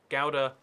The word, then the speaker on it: Gouda: Gouda with the hard G.